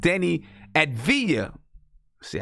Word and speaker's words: Deni Avdija: thanks to my man Andy who helped me pronounce his name we're gonna talk about Denny at via C I got it right from Israel I'm gonna